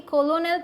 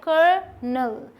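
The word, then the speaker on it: colonel: अब ये है जिसे कि लगता है कि कॉलोनल पढ़ेंगे, लेकिन ये आप में से कई लोग जानते भी होंगे, इसे पढ़ा जाता है कर्नल, कर्नल, एक साथ जोड़ेंगे तो इस तरीके से बनेगा कर्नल।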